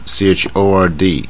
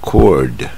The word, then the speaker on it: chord: 这个音念 CHORD，念 chord， chord，这个 O 是卷舌的